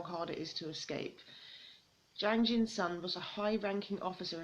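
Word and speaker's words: Jang Jin-sung: the state my escape from North Korea by Jang Jin's son and that's how you pronounce that name but yeah um this is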